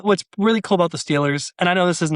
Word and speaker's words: Steelers: people pronounce the word Steelers. And sometimes it slips out of my mouth too. I say Stillers as well. For people who don't know, it's saying Steelers, but putting an I in there instead.